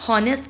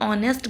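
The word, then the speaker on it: honest: But pronunciation में H silent होता है। हम होनेस्ट नहीं बोलते। हम ऑनेस्ट बोलते हैं।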